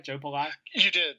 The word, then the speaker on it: Joe Pallai: Did I pronounce the name right, by the way? Joe Pallai?